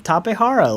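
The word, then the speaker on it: Tapejara: And so it uses the Spanish language, lettering system. So that's the pronunciation. Tapehara, like jalapeno, All right.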